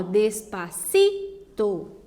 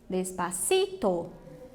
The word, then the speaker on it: despacito: Veja que elas são as penúltimas sílabas mais fortes e por isso elas estão destacadas, tá? Então, ó, despacito, despacito, paredes, essa é igual